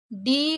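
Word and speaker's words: dough: अब देखिए ये तो हमने पढ़ लिया लेकिन इसको कैसे पढ़ेंगे, देखिए कभी भी डी को तो डा पढ़ते हैं यानी, लेकिन ओ और यू को ओ पढ़ेंगे, यानी कि डो, क्योंकि जी एच लास्ट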